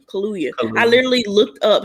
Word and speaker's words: Kaluuya: tried to please close daniel kaluye kaluye that's how you pronounce it we can't hear you